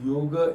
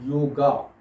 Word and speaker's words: yoga: books and all, and they pronounce it yoga. That is not correct. It is not yoga. They cannot pronounce it properly, that's why. The word is yoga.